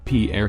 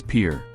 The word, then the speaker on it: Pierre: south dakota pierre wrong she kept saying pierre two syllables like the french name and he said it was pure one syllable like what you fish